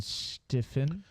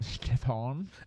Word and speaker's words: Stefan: So we also have our co-host here, as in Stephen. That is not how you pronounce my name. Stefan. It is Stefan. Okay, Stefan. Yeah, thank you. As our co-host. It's got a French hang.